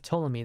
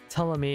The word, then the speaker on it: Ptolemy: Ptolemy in English, or Ptolemaios. Ptolemaios. Yeah, you could also pronounce it like that as well.